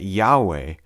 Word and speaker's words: Yahweh: was simply lost so there are even some Scholars who have suggested that the name was pronounced Yu however the majority of linguists today agree that Yahweh is most likely the way that the sacred personal name should be pronounced